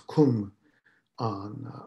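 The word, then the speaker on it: kung-an: it is going on and in the way giles pronunciation it's kum on i use the way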